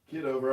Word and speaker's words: Kitover: The other, is it Kitover or how do you pronounce it? Kitover.